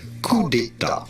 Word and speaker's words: coup d'état: In France, we would say coup d'état. Un coup d'état. Coup d'état. Coup d'état. Okay. So now I know how to pronounce that. It doesn't really pronounce like it looks, but hey, if you